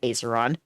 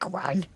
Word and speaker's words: Acheron: Oh, I pronounced it Aceron. You can call me whatever you want. Acheron.